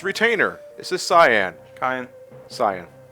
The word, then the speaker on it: Cyan: Cyan. Oh, like the color. Yes, that's how I always pronounce it. No, when I was a kid, I pronounced it as Seion.